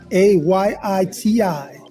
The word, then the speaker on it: Ayiti: ChefStefan.it, AYITI. This is the correct way to say Haiti.